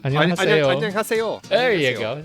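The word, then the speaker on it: 안녕하세요: Annyeonghaseyo. Annyeonghaseyo.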